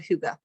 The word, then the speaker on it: hygge: created the hyuga blend it is spelled like piggy or heidi but it's called hygge so it is from the